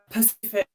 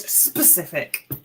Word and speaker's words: specific: Uh most hated grammatical error or mispronounced. When people pacific is is you know a body of water. It's not the word specific.